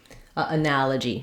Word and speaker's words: analogy: So it can help to practice by starting on that stress syllable, analogy. That's going to really help you get that rhythm and that nice short reduced vowel in that first unstressed syllable.